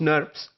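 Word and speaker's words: snRNPs: ribonucleoprotein particles that are abbreviated as SN R and PS or pronounced nerves there are two types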